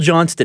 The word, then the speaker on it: Johnston: By the way, it's spelled Johnston. Everybody calls him Chris Johnson, though. But it is Chris Johnston.